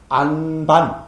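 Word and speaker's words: ānāpāna: 자 아나빠나 할 때죠요 맨 마지막 뒤에 오는요 발음은 지금도 인도에서는 발음을 하지 않습니다 그죠 그래서 아나빠나 우리는 아나빠나 하지 은 지금 인도 사람들이 한다면은 안반 안반 요렇게 바람합니다 됐죠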